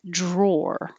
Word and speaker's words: drawer: The thing that you pull out of a desk to put stuff in is drawer with an OR. Every kitchen has a junk drawer. So you have to round your lips.